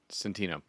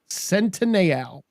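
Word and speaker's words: Centineo: Noah Centineal. Centino. Nope. Centineal. Oh, really? Oh, that what you learned how to pronounce?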